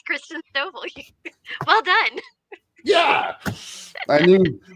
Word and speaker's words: Christen Stovall: I know I pronounced that right. Hey, Christen. You said it right. It's Christen Stovall.